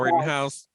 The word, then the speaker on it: Rittenhouse: How you pronounce his name? Oh, Kyle Smokehouse. Rittenhouse.